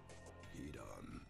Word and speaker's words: Hidan: Hidan knows. I mean, shit. Kakuzu knows. I can't believe I just butchered both of their names like that. Hidan.